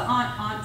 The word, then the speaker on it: aunt: So, who's the aunt sayer? Where are you from originally? This area. This area. Okay, that's very interesting because, yeah, overwhelmingly we get A-U-N-T rhyming with A-N-T around here.